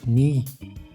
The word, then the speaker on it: knie: dunk which means thanks and for the English C plus n we pronounce both so KN means knee and that's all and